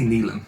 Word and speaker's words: Nyland: See, loads of people say Nyland, I say Neelan, but that's just me.